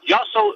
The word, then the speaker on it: Yossel: Yossel refers to everybody. It happens to rhyme with hustle and move a muscle, so use the word Yossel.